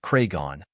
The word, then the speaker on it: Cregan: of a gangster to be honest Taylor's kraan pronounced craigon known as The Wolf of the North in